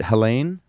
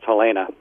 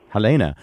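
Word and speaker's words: Helene: your wife is it Helen yeah it's it's from German so it's pronounced Helena Helena uh she and you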